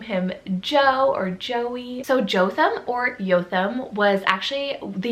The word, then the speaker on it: Jotham: It means the Lord is perfect, and that is the name Jotham, or it is a Hebrew name, so in Hebrew it would be Jotham.